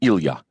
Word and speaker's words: Ilia: of his family name when friends called him Ilia it was with the proper Russian pronunciation with the accent on the yah his cover for this